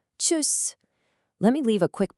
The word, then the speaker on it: Tschüss: It almost sounds a bit like a sneeze, doesn't it? Tschüss. Tschüss.